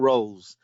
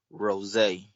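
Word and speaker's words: Rosé: You got to put the accent on the E. It's not Rose. It's Rose. Like the wine.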